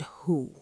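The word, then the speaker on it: هو: Let's analyze the sound who pronounced like the English word who but with a rounder, deeper resonance.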